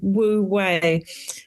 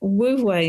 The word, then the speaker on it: Wu Wei: It relates to a concept that I talk about in the book, a Chinese concept called Wu Wei. And what Wu Wei means, it's pronounced W-U and then another capital W-E-I, is this patience in the unfolding of events.